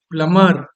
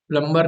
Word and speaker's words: plumber: इसका प्रोनाउंसिएशन क्या होगा? प्लमर। प्लम्बर नहीं बोलेंगे, अभी लेसन पढ़ते समय बताया था, प्लम्बर नहीं बोलेंगे।